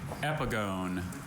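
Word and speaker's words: epigone: Epigon. Can I have all the information, please? Epigon has only one pronunciation.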